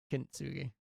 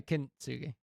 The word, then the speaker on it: Kintsugi: Kintsugi. No, Kintsugi.